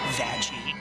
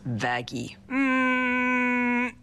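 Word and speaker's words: Vaggie: like you it's why the best thing ever vag actually it's pronounced vaggi no anyway you sure up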